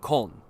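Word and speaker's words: Köln: Munich would be Munchin and Cologne would be Colon. Okay, cool. Makes sense. Makes sense. So, Munich is Munchin and Cologne is Colon.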